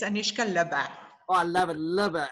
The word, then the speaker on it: Lubbe: It's Anoushka Lubbe.